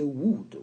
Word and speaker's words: would: Donc, vous prononcez would. Vous ne prononcez pas le L.